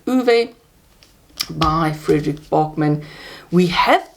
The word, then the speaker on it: Ove: do a man called ove I think you actually pronounce it a man called uve by Friedrich Bachmann we